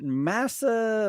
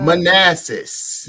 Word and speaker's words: Manassas: how do you say is it massa manasseh manassas yeah yeah manassas a good old manassas